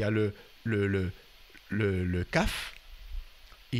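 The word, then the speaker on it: قاف: Et c'est kaf. Ça se prononce kaf.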